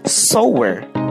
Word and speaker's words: sewer: We say sower, rhyming with lower.